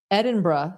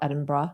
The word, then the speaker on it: Edinburgh: I was saying Edinburg. Although I did I did learn I will say this before we get to the Edinburg scale, Edinburgh scale, that in some American clinics they do say Edinburg.